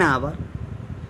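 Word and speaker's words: hour: अब क्या अंतर है, हाउस का हा और आवर का आ, क्योंकि यहाँ पर एच क्या है, यहाँ पर साइलेंट है, इसीलिए यहाँ पर एन आया।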